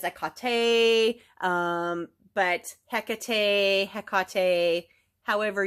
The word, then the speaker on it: Hecate: you say her name when I first came across her name I was pretty young in my teens maybe 20 and I thought it was Hecate that's what I seen h e c a t heck that's how I pronounced it um I've always had phonics issues anyway in the Greek it is a Kate um but he heate